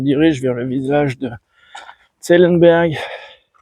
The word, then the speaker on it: Zellenberg: Je me dirige vers le village de Zellenberg. Zélambert, si je prononce à la française. Ou Zelapurik. Zelapurik en alsacien.